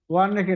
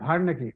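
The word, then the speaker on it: werneckii: একজোফিয়ালা ভার্নেকি, ওয়ার্নেকি না ভার্নেকি উচ্চারণ, একজোফিয়ালা ভার্নেকি, পিয়েড্রিয়া horti, ট্রাইকোস্পোরন species.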